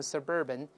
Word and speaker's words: suburban: 我们读一下形容词 suburban, suburban, suburb 加 an 重音后移，读成 suburban, 叫郊区的。